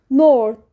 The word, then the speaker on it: North: جنوبي بتتنطق ذ طيب ازاي ننطق كلمه شمال بالانجلش شمال يعني نورت نورت نورت التي اتش بتتنطق حرف الث طيب شمالي شمالي نورذرن